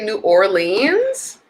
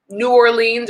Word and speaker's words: New Orleans: Please say New Orleans. Cracks me up how Americans pronounce it. New Orleans or New Orleans. There's several ways people say it.